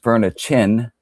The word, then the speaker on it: Fernatine: It's called Fernatine. It's pronounced Fernachin, which means men of fire in Gaelic.